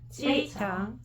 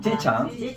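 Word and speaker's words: 机场: 기장 발음 시작. 기장은 지창. 봐봐. 우리 한국 발음하고 비슷하게 하는데 기가 빼 이렇게 안 나잖아. 기장 어떻게 나? 비기장. 지창.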